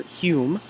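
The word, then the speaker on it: Home: through Daniel Douglas Douglas Holmes or Hume as he pronounced it who was probably one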